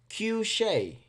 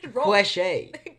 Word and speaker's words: Cueshé: feature friday the freshest q shay that's right i'm actually surprised it's because somebody